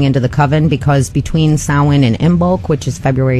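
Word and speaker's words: Samhain: because it is spelled Sam Hayne, but it's pronounced sin and what it translates to is summer's end.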